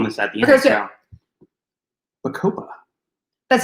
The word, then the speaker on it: Bacopa: So, Bacopa. That's how you pronounce it? Bacopa? Yes. It kind of sounds like a tropical drink.